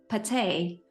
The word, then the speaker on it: Patè: welcome your last name how should I pronounce your last name p okay okay I I I forgot to ask you but I pronounced it right you pronounced it absolutely right okay so hello everyone